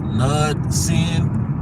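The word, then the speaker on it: Knudsen: it's uh I think I think it's pronounced nud sin I think that's the name of the brand k n u d s e n but nonetheless um you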